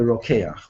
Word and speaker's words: Rokeach: So Rabbeinu Bachya quotes an ancient tradition in the name of the Rokeach. That's how that's pronounced.